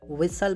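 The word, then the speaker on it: whistle: सीटी बजाना, विसल बोला जाता है, बजा कौन रहा है, बदनाम लड़के बजाती हैं लड़कियां। सीटी बजा मत बजाओ, don't विसल, don't विसल, T silent है इसमें।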